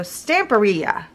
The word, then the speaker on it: Stamperia: to pronounce it and somebody said pronounce it like Pizzeria so stamperia right am I right if